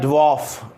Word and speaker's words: dwarf: और एक है DWARF, इसका प्रोनाउंसिएशन होता है ड्वॉर्फ। क्या होता है? ड्वॉर्फ। यदि आप ट्रांसक्रिप्शन जानते हो तो इस तरीके से ड्वॉर्फ, डे, फिर वे, फिर ओ और फे, ड्वॉर्फ।